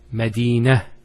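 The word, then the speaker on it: مدينة: I actually pronounced the ta marbuta as a ha. Medina, Khadija. Now if I stop on the ta marbuta, it's actually pronounced as a ha in both cases.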